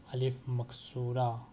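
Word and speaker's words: ألف مقصورة: or this letter is called alif maksura and it is pronounced as alif difference between this and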